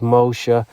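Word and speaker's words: Moshe: 22l alphabet in Hebrew the S the shin can be pronounced as an s or an sh so let's take Moses mosha to the center of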